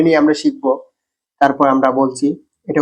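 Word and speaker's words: ب: যাব বা হরফের মত একসাথে মিলে ছোট করে একটা আওয়াজ বা বের হয় আমরা দুইটা টু একত্রিত করি বা বা আমার টোটা দিকে লক্ষ্য রাখতে পারেন বা বা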